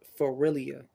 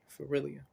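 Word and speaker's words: Feralia: mirrored uh sawant or Halloween was called for for realia all right for real you that's how you sp you spell that f-e-r-a-l-i-a for realia um and this day they will worship the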